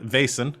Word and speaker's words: Vaesen: I'm just trying to pronounce it in its native tongue. These are my people. So yeah, Vaesen, which is a Scandinavian horror sort of investigative game.